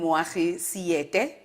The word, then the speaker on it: Moagi Seete: But the only male I'll be interviewing in the season, Moagi Seete.